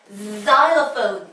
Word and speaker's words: xylophone: 실로폰이 아니라 영어로는요 Z 이 발음으로 시작합니다. xylophone 이렇게 읽어요. 자, X가 맨 앞에 올 경우에 Z다 라고 생각하시면 됩니다.